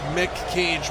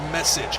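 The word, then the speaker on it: Meccage: You pronounced his last name like Mick Cage, but it's pronounced message.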